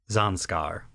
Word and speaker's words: Zanscare: the Japanese zanar so like zanskar which is the name of an actual real world region in India in the Himalayas very near Tibet zanskar and they're the the